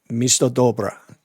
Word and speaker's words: Misto-Dobra: come right up and you're looking for the Misto Dobra.